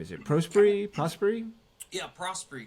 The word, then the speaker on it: Prosperie: it prosy prosy yeah prosy kind of just phonetically uh I feel like how it's spelled I feel like uh